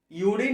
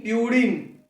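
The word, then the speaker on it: purine: यूरिन नहीं, प्यूरिन।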